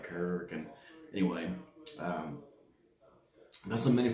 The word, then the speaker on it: Kuryakyn: That's pronounced right, Kuryakyn.